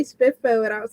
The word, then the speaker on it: SPFBO: experience with with uh how how is it pronounced SP spiffo oh spiffo yeah I didn't know how to do it